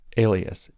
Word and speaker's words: Elias: up let me say his name again Maurice Alias e l i a s and you should